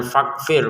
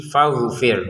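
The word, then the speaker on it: فاغفر: Bukan fakfir, fakfir tapi tapi fagfir huruf gin betul ya. Huruf tenggorokan bagian atas fagfir gitu ya.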